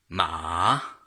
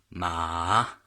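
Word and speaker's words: mǎ: So this would be pronounced ma, and the way that you pronounce it, the tone, so you see it's third tone, falling and then rising. So ma, that affects the meaning of the syllable.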